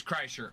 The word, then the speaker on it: Kreischer: It's Kreischer.